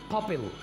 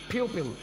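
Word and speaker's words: pupil: पपिल। This is नॉट पपिल, this is प्यूपिल, आँख की पुतली।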